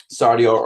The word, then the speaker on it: Sardior: Sardior, according to the internet, is pronounced Sardior, and was the dragon god of